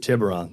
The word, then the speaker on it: Tiburon: while the I need some help with the pronunciation here Tiburon Tiburon thank you you should know that well the